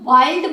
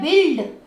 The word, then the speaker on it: build: अब इसको BUILD, अब ये ध्यान रखिए, इसको वाइल्ड मत बोलिए, ये है बिल्ड, ये मैंने टिक मार्क इसीलिए लगा रखा है, इसकी प्रोनाउंसिएशन दे रहा है, इल्ड, बिल्ड।